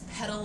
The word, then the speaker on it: pedal: with this but the pedal p e d a l you might also pronounce that as petal of your bike um again both pronunciations